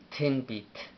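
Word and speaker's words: ትንቢት: Ahora, tin bit se escribe, a ver, en amárico es tin, t, t, y no lleva vocal, t, n, tin, la n tampoco lleva vocal, tin, b, b-i, tin b, otra T, finalizando con T y no lleva pronunciación en el vocal.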